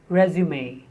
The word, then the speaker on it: résumé: And as a noun, as a synonym of curriculum vitae, it is résumé.